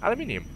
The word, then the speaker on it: aluminium: copper copper copper Ferris aluminum I think or aluminum if you're American um but I say aluminium I don't I just I can't imagine people saying aluminum it just makes me giggle I don't know why it's just seems sounds so wrong saying aluminum cuz i' like